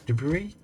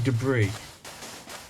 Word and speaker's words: debris: I want to say debris if in doubt British people put the emphasis on the second syllable Americans put up on